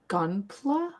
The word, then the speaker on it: Gunpla: But this it says about everything Gunpla.